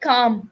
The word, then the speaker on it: calm: a vowel next is letter l the words like calm walk yoke so we don't even pronounce letter l in these words can you give me